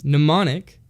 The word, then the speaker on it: mnemonic: to the mem sorry this words a little weird to pronounce mnemonic that's how you say it I looked at him